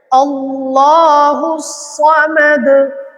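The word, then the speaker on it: ٱللَّهُ ٱلصَّمَدُ: এখানে একটা মারাত্মক ভুল সদ উচ্চারণ করতে হবে না হলে অর্থের চেঞ্জ হয়ে যাবে। অর্থটা চেঞ্জ হয়ে যাবে। আল্লাহু সামাদ আল্লাহু সমাদ লামদ ওয়ালাম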